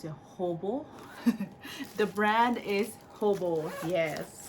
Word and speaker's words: Hobo: Did I pronounce it Hobo?